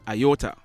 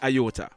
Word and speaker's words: aorta: he had a ruptured aorta. Question: do you know what is called the aorta? Well, firstly, it is spelled A-O-R-T-A. So, it's not pronounced how it's spelled.